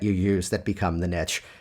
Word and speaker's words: niche: As hypnotists, people often get really hung up in this whole concept of a niche or a niche or a specialty. And yes, niche does rhyme with rich.